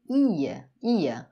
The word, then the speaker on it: ia: Verbo ir, j'allais, tu allais, il allait, eu ia. A sílaba tônica é realmente o i, tá? O i aqui sozinho, ele é uma sílaba tônica.